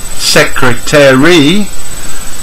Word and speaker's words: secretary: interesting when number five learners say secretary latest speakers reduce it from four to three and today secretary and finally